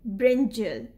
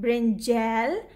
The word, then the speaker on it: brinjal: It's br in gel, but but when we pronounce it, we say it brinjal. You will write brinjal, but you will pronounce it brinjal.